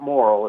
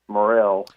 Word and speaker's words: morel: I just wanted to tell you how to say morel mushrooms. It's not moral, it's morel.